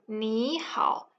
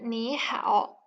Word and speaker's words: 你好: 你 when pronounced individually is in the turning tone, which is 你. However, when it's in the word 你好, 你 becomes 你. It becomes a rising tone.